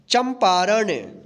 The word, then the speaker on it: चंपारण: गणतंत्र, घंटाघर घंटाघर, चम, देखिए यहाँ पे च के ऊपर बिंदी है तो यहाँ पे आधा म के रूप में उच्चारण होगा, चन नहीं पढ़ेंगे इसको, चम पारण चंपारण, छलांग छलांग, पंचमाक्षर पंचमा